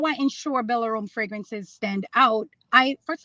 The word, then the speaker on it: Belarome: How do you ensure, though, Tia, that your Belarome, am I pronouncing it right?